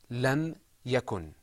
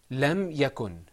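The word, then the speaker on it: لم يكن: example lam yakun in the Quran this is pronounced lam yakun repeat after me lam yakun lam yakun okay did you hear that yeah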